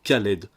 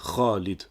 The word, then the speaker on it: Khalid: pousse les non arabophones à prononcé Khaled pour dire Khalid ou encore à prononcer